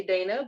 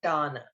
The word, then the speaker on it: Dana: So her message, Miss Donna, I know someone might say Dana, but in the book, she is she is pronounced as Donna.